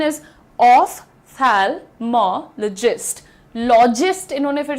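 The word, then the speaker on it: ophthalmologist: The pronunciation is ऑफ थैलमोलॉजिस्ट।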